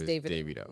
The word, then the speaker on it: Davido: a Nigerian person told me his name is Davido you know but I've heard yeah it's Davido